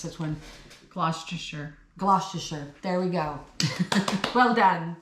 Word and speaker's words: Gloucestershire: Yeah, she was born in Yate, and I have no idea how to pronounce this one. Gloucestershire.